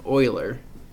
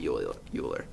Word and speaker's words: Euler: It's actually pronounced Euler, not Euler. I used to say Euler.